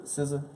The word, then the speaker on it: SZA: Lionel invites her to the SZA. That's how you pronounce it.